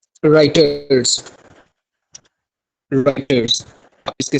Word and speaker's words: Reuters: सबसे पहले आता है जी राइटर्स। राइटर्स आप इसके स्पेलिंग नोट कर लें, REUTERS।